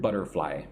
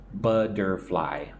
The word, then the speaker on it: butterfly: Look at the word butterfly. Make the t kind of soft almost like a du du butterfly. Three syllables. Butterfly.